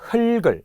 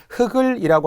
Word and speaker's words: 흙을: 돼요 체어는 조사와 구별하여 적는다 자 나머지도 같습니다 흙을 일단 발음을 잘해야 되죠 흑을이라고 하는 분들이 엄청 만해 심지어는 꽃이 꽃이 꽃이